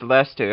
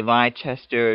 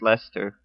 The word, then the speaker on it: Leicester: press the opposition as well and yes it's pronounced Lester I know a lot of people say lied Chester or something like that but it's actually pronounced Lester and Lester's gotten off to a pretty good